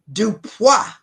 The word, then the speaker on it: DuPois: Dupa.